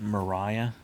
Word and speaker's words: Maria: okay you said this this next lady pronounces it mariah even though it looks like maria yep yeah okay mariah